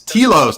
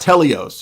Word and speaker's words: telos: It's telos, not teleos. You're not even saying it right.